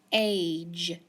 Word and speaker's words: page: Anytime that I have a CVC word with the G at the end, it's going to make a soft G because it's in front of that E. So then I have page, page.